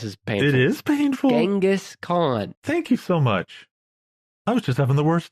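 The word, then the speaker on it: Genghis Khan: block and I know some people including Dan Carlin will call him jangus con but I say it I'm going with genas because it sounds better to me well there you know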